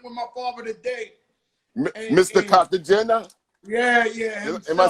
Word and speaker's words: Cartagena: Cartagena?